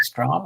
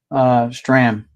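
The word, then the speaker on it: Strahm: Strom or Stram? Stram. Stram. Strom is the other pitcher.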